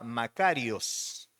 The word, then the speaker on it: makarios: palabra griega que se que originalmente se escribía y se pronunciaba macarios Entonces es una palabra